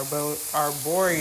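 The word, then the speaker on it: arborio: so now I'm going to toast some AR arboro sorry that's how you pronounce the type of rice that you need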